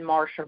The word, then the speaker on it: Marcia: You can go on YouTube and type in Marsha. And my name is spelled Marcia, not S-H-A. But it's still always Marsha.